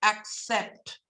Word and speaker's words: accept: important very very important words that have a double C the answer they are pronounced like this ax so words like accept words like access these are pronounced with the ax sound I used to call